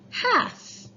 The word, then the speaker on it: half: word is half now half when you look at it it's called a letter in it that we don't say when we say the word half it's spelled huh but we don't say that oh we just say 1/2 so 1/2 means